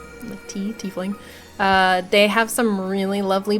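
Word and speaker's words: Teafling: Some of my favorites are the Gilded Tiefling, it's spelled T-E-A. Tiefling.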